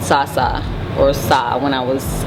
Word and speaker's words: Sa: It's pronounced Sa.